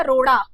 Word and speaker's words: रोड़ा: एक रोड है सड़क वाला और दूसरा क्या है, राह का रोड़ा। तो यहाँ पे रोड़ा शब्द आपको मिल रहा है। रोडा इसे नहीं कहेंगे, इसे क्या कहेंगे, रोड़ा कहेंगे।